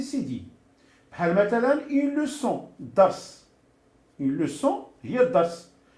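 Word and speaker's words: leçon: الا جاب الله ما درتش هاد السي دي هادي غتولي اون لوكون. اون لوكون ما عندها حتى معنى. اون لوسون هي الدرس. وباش نكتب باش نطقها لوسون خصني نزيد لها هادي سميتو.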